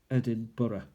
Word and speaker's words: Edinburgh: It's spelled Edinburg, but it's pronounced Burough. Edinburgh.